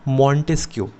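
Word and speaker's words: Montesquieu: उन भाई साहब का नाम था मॉन्टेस्क्यू। हम लोग मॉन्टेस्क्यू बोलते हैं, लेकिन आप स्पेलिंग पढ़ोगे तो मॉन्टेस्क्यू है।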